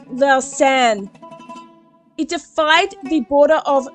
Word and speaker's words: Lausanne: allies and Mustafa in Lusani, I don't know how to pronounce that, Switzerland. Lusani, Switzerland. This treaty is known as the Treaty of Lusani, or Lucerne. Okay, so my bad, it's pronounced Lausanne.